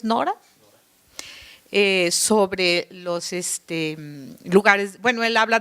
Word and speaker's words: Nora: La alusión me gustó a Pierre Nora, así está bien pronunciado, es Nora, sobre los lugares, él